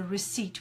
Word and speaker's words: receipt: with an e I receipt node we don't pronounce it of the P just the tail so receipt we don't say received receipt great stuff guys